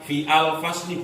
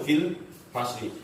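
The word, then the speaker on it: في الفصل: Bukan fi al fasli, bukan, tapi bacanya kan langsung fil fasli.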